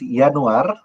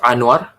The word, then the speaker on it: Yanuar: Okay, it's actually pronounced Yanuar. Yanuar. Yeah, Yanuar. Do you get a common mistake where people call you as Anwar?